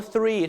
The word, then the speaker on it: three: นี้ ง่าย มาก ครับ แต่ คำ ว่า Three ถ้า เป็น ไป ได้ ก็ อย่า ลืม เอา ลิ้น มา แตะ ฟัน บน เล็ก ๆ นะ ฮะ The นะ ฮะ Three